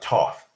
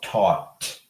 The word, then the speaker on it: taught: It's not toff. It's taught, past of teach.